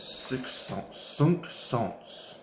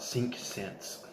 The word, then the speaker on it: Cinq Cents: So this one is Cinq Cents, as I heard it called from someone trying to do a proper French pronunciation. In my Alabama dialect, I would call it Cinq Cents.